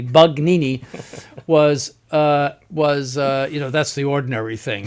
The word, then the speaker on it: Bugnini: concocted by Bugnini, and make sure you can pronounce that correctly, Bugnini, was that's the ordinary thing that was concocted, just made up by that Freemason.